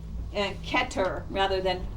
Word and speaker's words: Kether: first separa is called ketter kether it's actually th's are pronounced like a t in the ashkenazic so when you see